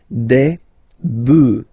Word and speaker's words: bœufs: just add this S, but then pronunciation changes quite much, because you get des bœufs, alright, un bœuf, des bœufs, alright, then un œuf, des œufs.